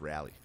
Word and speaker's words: Raleigh: we come back yeah it's pronounced rally everyone gave me [